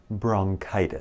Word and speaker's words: bronchitis: Maybe I have bronchitis. لا لا لا. bronchitis. K. ننطق CH مثل K. bronchitis.